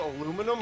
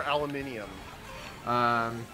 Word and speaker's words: aluminium: confusing now is it called aluminum or aluminium she has a tough one because I say aluminum but it could be it could be either one depending on where you're from but they're still spelled